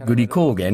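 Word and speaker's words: グリコーゲン: We put in a nutrient called glycogen, pronounced gurikogen in Japanese, in a caramel.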